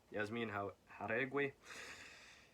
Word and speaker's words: Yasmin Jauregui: Yasmin Jauregui.